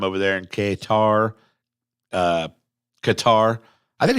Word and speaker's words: Qatar: there in Qatar uh Qatar I think it's Qatar is how that's pronounced some people say katar some people say cutter I believe it's Qatar